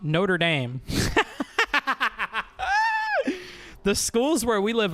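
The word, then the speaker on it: Notre-Dame: It is pronounced Notre Dame, not Notre Dame.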